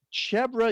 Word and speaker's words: chèvre: All right, well, it's chevre is cheese made with goat milk. It's also the word for goat. Okay, so that's why it's called chevre.